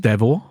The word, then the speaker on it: Devour: Yeah, Devour, I think is the name of the game. But yeah. Oh yeah. I believe it's pronounced Devor. Devor, oh really? Okay. It's French.